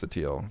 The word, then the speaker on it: Sottile: should be a c in there but i pronounce it as sateal because there's no it's a silency that would